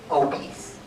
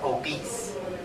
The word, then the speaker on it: obese: everybody say obese OB some people would pronounce it wrong like obes no it's obese obese obese like obese